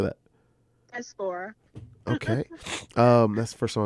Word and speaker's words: diaspora: Diaspora.